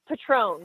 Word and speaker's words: Petrone: It's Petrone. Petrone, like okay. The tequila.